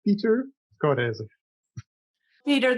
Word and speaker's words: Pieter Coudyzer: say your name hi um my name is pronounced peter code peter thank you for joining us today and we're